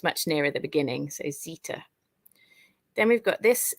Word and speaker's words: Zeta: in get how you would say e then Zeta which makes the sound Z which comes at the end of the English alphabet but in the Greek alphabet it comes much nearer the beginning so Zeta then we've got this letter here which is